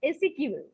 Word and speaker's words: SQL: uh modifying rows etc sometimes it is pronounced as sequel we can also use